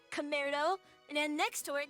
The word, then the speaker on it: Commaredo: And it is pronounced, as in like cousin, but then we have mare, which, if you guys are into horses, you should know that a mare is a female horse.